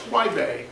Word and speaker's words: Huaibei: Would you please spell the name, spell the town, the city that you Yes, Huaibei is spelled H-U-A-I, that's Huai, B-E-I, Huaibei.